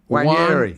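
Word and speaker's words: Nwaneri: Jay Federer J says Ethan did a video with Sky explaining his name, and he didn't say it like the Nigerian bro in the studio. no, he didn't. He said Ethan Wanyeri.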